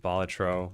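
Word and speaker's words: Balatro: games like Vampire Survivors and Bolatro, which is apparently that's how it's supposed to be pronounced, but I always said Batro myself.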